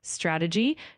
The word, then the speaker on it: strategy: Of course, one small detail to keep in mind is the word strategy. Just ensure the emphasis is on the second syllable. So it's strategy.